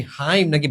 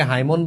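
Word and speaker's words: hymn: Lyric বলা হয় নাকি ওড বলা হয় নাকি হাইম নাকি ব্যালেড বলা হয় তাহলে রিলিজিয়াস এন্ড সক্রেড ইমোশন যেটা এটা হচ্ছে হাইম বলা হয়। ঠিক আছে? অনেকে হাইমন বলে নো।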